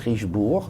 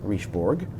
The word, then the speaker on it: Richebourg: So, first of all, you don't pronounce the G. It's Richebourg, not Richebourg.